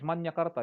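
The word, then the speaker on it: Magna Carta: manyakarta of women okay that is manyakarta you pronounce that magna that's okay that's women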